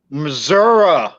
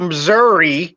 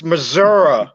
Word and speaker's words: Missouri: It is pronounced Missouri. It's not Missouri, it's Missouri.